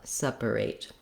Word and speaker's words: separate: sepa sepa you'll see that is the vowel schah it's the little upside down e in the dictionary and I rewrite it here as the letters uh sea separate and then lastly our last syllable rate has uh some secondary stress because it has the clear a vowel so it's just like the word rate uh but I may